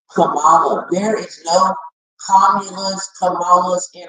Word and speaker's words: Kamala: That's why we as Black people have a hard time pronouncing her name. And they get mad and try to correct us when we say Kamala. It's Kamala.